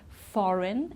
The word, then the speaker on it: foreign: Foreign and design, okay. So we don't sound the G here.